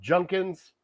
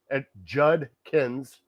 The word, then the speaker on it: Judkins: There's a D in there. I think that D is silent, but anyways, throw out the D, add an N and a K, and he got it.